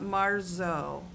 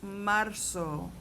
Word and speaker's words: marzo: It's not marzo. Okay. The Z doesn't exist. So the Z should sound like an S. Marco, okay?